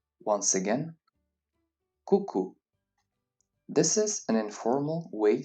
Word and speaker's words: coucou: Let's concentrate only on the pronunciation of these words and their usage. Now, let's learn some original greetings. Coucou. Once again, coucou.